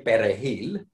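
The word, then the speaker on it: perejil: parsley massacre is because in spanish to pronounce the r's is pretty easy when we say peregil you can tell that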